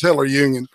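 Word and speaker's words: Hitlerjugend: Oh, like the Hitler Jugend kind of stuff. Yeah, exactly. Right? Yeah, it's Hitler Jugend. You're right, exactly. Yeah. Hitler I pronounced it wrong. Yeah, it's Hitler Jugend.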